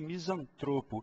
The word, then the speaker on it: misantropo: a mesma sílaba tônica eu tenho que falar sempre filantropo e misantropo são duas palavras também que no bate-papo Diário aparecem muito como proparo citas as pessoas costumam falar filanto e misantropo tira essa cab tônica